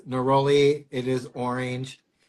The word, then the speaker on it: neroli: It's neroli.